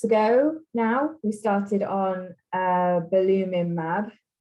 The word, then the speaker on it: belimumab: And about 8 months ago now, we started on belimumab.